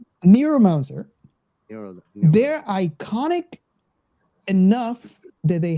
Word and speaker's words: Neuromancer: very famous book that I keep on mispronouncing as necromancer, neomancer, was it? Neuromancer.